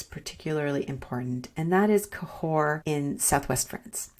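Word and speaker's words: Cahors: where mbec is particularly important and that is cahore in Southwest France it's not actually that far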